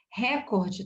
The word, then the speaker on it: recorde: nome pública tá pública recorde também é recorde a sílaba tônica não é tão recorde recorde tá errado é recorde tá com um